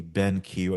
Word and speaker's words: BenQ: This week I got the chance to write about the BenQ. I think that's how the company is called, BenQ. That's how it's spelled at I think least. it's BenQ, yeah. Cool, not Benk.